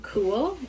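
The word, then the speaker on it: Kühl: This brand is called Cool. It's spelled with a K.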